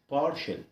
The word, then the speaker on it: partial: حرف التي لو جه وراه اي واي او حرفين متحركين بيتنطق على بعضه كمقطع واحد. شل. شل. شل. شل. طب تعال نحطها في الكلمه كده ونقول partial.